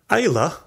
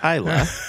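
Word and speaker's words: Islay: best single malt in the world end quote Ayla pronounced Ayla has been one of skull Islands since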